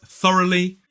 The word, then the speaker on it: thoroughly: in the word sheep so this word is Thoroughly three syllables stress on the first and now let's